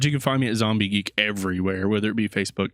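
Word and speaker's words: Xombie Geek: It's spelled with an X, so XOMBIEGEEK, Zombie Geek.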